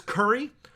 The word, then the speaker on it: Kuri: Then there's curry. Curry is, which is spelled Kuri because it's Khazalid.